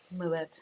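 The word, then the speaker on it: Moët: Muette. Moette. Yes. Muette. That is pronounced Moette.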